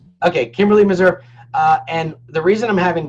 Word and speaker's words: Meserve: Yeah, it's Meserve. Okay, Kimberlee Meserve.